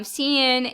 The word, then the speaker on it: cin: i'll show you um cnn it's pronounced uh cn exactly so uh you can